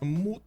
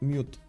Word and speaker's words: moot: introduction over here uh the word in moot point is moot not mute yeah I mean that's